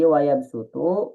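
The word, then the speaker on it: ويبسط: Jadi maksudnya ketika ada sin kecil di atas huruf shad ini dibacanya pakai sin gitu ya. Dibacanya pakai sin. Jadi wayabsutu, wayabsutu. Jangan sampai wayabsutu, wayabsutu. Nah, dia antara su dan su. Nah, tapi ini dipakainya pakai sin ya. Jadi wayabsutu pakainya huruf sin.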